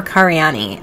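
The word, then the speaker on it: Karayiannis: time he married vicky carianis or cariani uh she's greek and i know in greek it's pronounced cariani i'm not sure if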